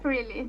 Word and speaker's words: Trilly: Do you say Is that am I pronouncing that right? It's Truly? For your your FPV Yeah, it's Truly. Truly.